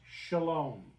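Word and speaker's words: שלם: The word Salem in Hebrew is actually pronounced shalom.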